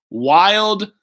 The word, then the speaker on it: Wilde: Wild. That's why I even said it on some videos. Wild with a silent E, Berle with a not silent E.